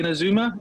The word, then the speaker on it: Inazuma: your bike, and how you had a Suzuki Inazuma, is that right?